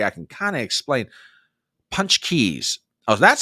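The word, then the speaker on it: pączki: I think TBA I can kind of explain punch Keys oh that's how you pronounce it punch Keys punch Keys okay punch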